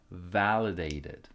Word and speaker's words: validated: his parents pronunciation tip make sure to stress the first syllable invalidated validated people actually they pick